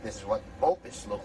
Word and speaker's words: bopis: It's called Bopis or Bopis, properly pronounced it Bopis.